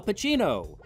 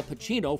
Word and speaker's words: Pacino: they can get al pacino for the commercial because his name rhymes with duncancino somehow al ends up